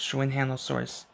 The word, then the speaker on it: Xuanhanosaurus: Dino trackers danger packs showing handle source it starts its name starts with X but you pronounce its name but you pronounce its name like shoe and hand of source which is weird so if you so